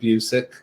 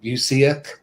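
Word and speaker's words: Busiek: pronouncing them yeah yeah yeah because once again mispronounced a lot him and and kurt busick yeah people saying bucyak um and of course bilson kevich you know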